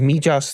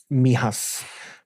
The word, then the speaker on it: Mijas: And um of course it's up in in that part of of is it Mijas that I pronounce it? So where there would have been Mihas where a lot of